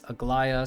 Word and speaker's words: Aglaea: was talking about uh she has multiple different ways that people have been trying to say her name aglia AGA whatever it is but her name in game at least from when I was doing the story is pronounced is Agia so if you actually